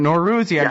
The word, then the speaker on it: Norouzi: ah there you go Arash no Ruthie but nor rozier that right perfect excellent poor guy you got